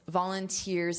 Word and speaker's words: volunteer: The syllable stress is on the final syllable, which is not a regular syllable stress pattern in English.